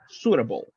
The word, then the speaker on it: suitable: say this one exactly the letter i is mute right you say Su s HH not e suitable suitable exactly right like